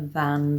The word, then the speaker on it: than: Faster than you, slower than the hare. So you need that word than, but be careful how you pronounce it because in a sentence it's very small like this, than.